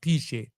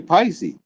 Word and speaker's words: Piesie: Piesie, but it's Piesie. It's pronounced Piesie. I was calling you Pisces.